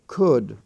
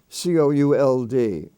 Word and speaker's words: could: up of the uh the uh sound spelled o-u-l-d and that's an archaic spelling form and they are common words like could would and should like i could if i would c-o-u-l-d could not couldn't would would